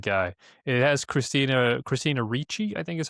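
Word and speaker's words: Ricci: It has Christina Christina Richi I think is how you say her name and Richie.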